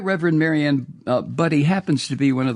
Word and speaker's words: Budde: the Right Reverend Marianne Budde, and I think I'm pronouncing her name right, it's Budde, Budde, I believe.